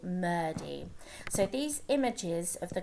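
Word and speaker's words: murti: here five and six so it's murdy okay it sounds like a d in the middle murdy so these images of the gods and gods s's are called murdy okay so hindus worship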